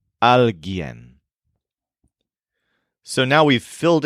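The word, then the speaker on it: alguien: the human thing is alen which stresses Yen it's spelled a LG u i n but the U is silent alen so now we' fil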